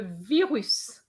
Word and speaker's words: virus: uh le virus le virus so we are going to pronounce the s whereas at veru we're